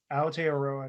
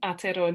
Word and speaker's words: Aotearoa: Next up, we have expectations and realities, post-prison housing in Aotearoa, New Zealand.